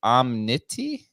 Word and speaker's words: Omnity: Is it Omnity? Is that how you pronounce it? You got it.